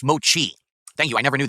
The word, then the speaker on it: mochi: slamming these things back phone going off it's pronounced Mochi thank you I never knew that mochi okay they're very generic like I said if